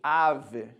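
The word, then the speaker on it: אב: E a expedição chega a Jerusalém no primeiro dia do 5º mês judaico, o mês judaico de Av, ou Ab, como alguns poderão preferir pronunciar.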